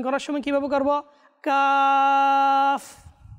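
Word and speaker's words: قاف: তো আমরা মাদানী চ্যানেল দর্শকবৃন্দ, আমরা যারা এতদিন পর্যন্ত কাপ এভাবে ভুল উচ্চারণ করে আসছি, তো আমরা এই অনুষ্ঠান থেকে এই সবকটাও নিয়ে নিই। এটা কাপ না, কিংবা কপ না, এটা হচ্ছে কাফ। লাস্টে ফা রয়েছে, কি রয়েছে?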